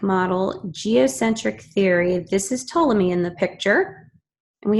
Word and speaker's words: Ptolemy: different ways Claudius Ptolemy see how it's pronounced Ptolemy was an Egyptian mathematician